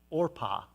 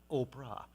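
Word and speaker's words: Orpah: heard of Oprah Winfrey her mother mispronounced the name on the birth certificate Oprah was supposed to be named or pas not Oprah anyway that forget you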